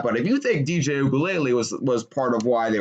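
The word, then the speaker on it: Uiagalelei: And DJ Ugalele, I needed that. DJ Ugalele is how you pronounce that guy's name.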